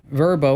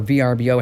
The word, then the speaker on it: VRBO: in bedrooms and bathrooms now verbo or VRBO as you want to pronounce it uh they say no